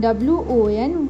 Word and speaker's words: one: Since O in one is pronounced as one, WON, one, and one is a consonant sound.